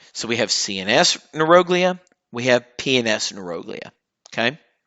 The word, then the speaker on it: neuroglia: So they're your neuroglia or neuroglia. I used to always say neuroglia because in neuroscience it's all neuro. But it is actually technically properly pronounced neuroglia.